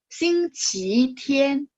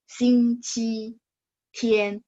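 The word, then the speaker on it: 星期天: Nah, buku-buku Taiwan itu dia bacanya nada 2. Xing Qi Tian. Ya, benar. ya. Jadi buku-buku Taiwan dan kita maksudnya yang di Indonesia ini kan sebenarnya dari Nanfang, dari apa daerah-daerah selatan. Nah, itu memang kebiasaan baca nada dua. Tapi secara kita bilang gini, si China itu menetapkan Hanyu Biaozun, jadi standar bahasa Mandarin, itu bacanya nada satu, Xing Qi Tian.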